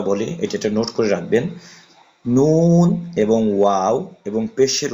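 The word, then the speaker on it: ن: wow Hamza Hamza ইয়া আমি আপনাদের একটা কথা বলি এটা নোট করে রাখবেন নুন এবং ওয়াও এবং পেশের উচ্চারণ এইগুলো উচ্চারণ করার সময় অবশ্যই অবশ্যই আপনার ঠোট গোল করতে হবে নুন তারপর হচ্ছে ওয়াও এগুলো উচ্চারণ করার ক্ষেত্রে আপনার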